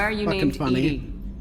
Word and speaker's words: EDI: Edie? EDI is the phonetic pronunciation of EDI. That is an acronym for Enhanced Defense Intelligence.